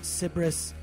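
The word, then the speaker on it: Cybris: like you're dancing but look up everything cbris it's spelled Sy y b r i s cbris they're band you're going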